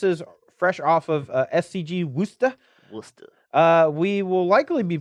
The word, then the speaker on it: Worcester: you are you loser Wooster dude I used to think it was called Worchester so I don't know or